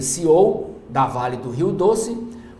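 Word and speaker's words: CEO: na lava jato sucessão novo céu que se pronuncia seou da Vale do Rio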